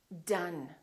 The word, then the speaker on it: done: we don't say either we say other or done done d-o-n-e i'm done let's practice a few